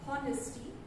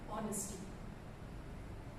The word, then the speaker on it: honesty: And we also had someone say honesty. It should have been honesty.